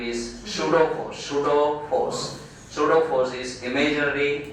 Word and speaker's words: pseudo: Or the most famous name is pseudo force. Pseudo force is imaginary, unreal, fictitious force. The spelling is P-S-E-U-D-O. Pseudo force. P is silent, okay? So don't pronounce it.